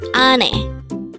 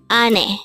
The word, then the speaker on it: 아내: first syllable is a second syllable is n pronounce it with me Ane Ane what is the meaning of the word Ane this is the Korean term for wife again